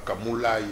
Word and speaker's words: Kamoulaye: Professeur Kamoulaye, vous savez, je voulais prononcer en Tchiluba Kamoulaye.